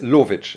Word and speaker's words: Lowitzsch: and uh I made yans how do you pronounce Lich is my last name yans Lich right okay okay okay in Karachi right now